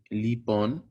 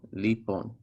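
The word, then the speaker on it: ⲗⲟⲓⲡⲟⲛ: that in lesson five just know for now that o is silent so lipon and the last word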